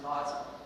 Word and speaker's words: Bosham: That when we were in the middle stream, it looks like Bosham, but that's pronounced Bosom.